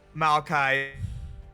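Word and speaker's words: Maokai: a tree oh Malai yeah that's how you pronounce his name Malai mm all right well we learned something new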